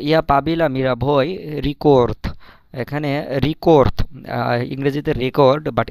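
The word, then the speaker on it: рекорд: তো ইয়া পাবিলা মীরা ভই রিকোর্থ। এখানে রিকোর্থ, ইংরেজিতে রেকর্ড, বাট রাশিয়ান ভাষায় এটাকে রিকোর্থ, রিকোর্থ। যদিও লাস্টে দে আছে কিন্তু এটার উচ্চারণ ত হবে।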